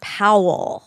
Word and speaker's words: Powell: name a lot and I wrote pal P oh that would have been cute pal perola you're you're old pal perola yeah that's what I thought you guys were saying but it's Powell yeah p o w l l yeah pow Peralta Powell